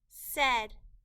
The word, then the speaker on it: said: they look was with said e said the AI in this word is making a short e sound and we need to remember that by heart said Saw s all